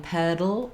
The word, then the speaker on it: pedal: that Flat Water I'm gonna drop in pedal oh I'll just keep my tongue up there for that syllabic l sound drop the back of